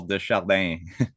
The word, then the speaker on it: de Chardin: Atelier de Chahard. I never say his name well, but de Chardin.